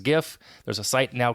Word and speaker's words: GIF: versus j-i-f okay so I pronounce it the peanut butter is Jif the file format is GIF there's a site now